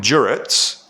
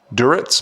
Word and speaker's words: Duritz: Adam Duritz.